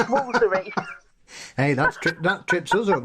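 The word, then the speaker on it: Woolfardisworthy: a glossary because Ampthill in Bedfordshire is not pronounced Ampthill. And when we get to Wolfardisworthy in Devon, it's Woolsery.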